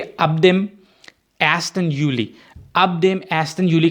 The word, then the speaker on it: Juli: यहाँ पे आप ये देखें कि जो जे है, JULI, जे की जो प्रोनाउंसिएशन है वो इंग्लिश वाली जे नहीं होगी, वो होगी ये, तो इसको कहेंगे एस्टन यूली।